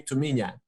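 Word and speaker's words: Tuminha: me to me yeah it's how we say in portuguese uh you you you spell it to menia it's how my family calls me you know they do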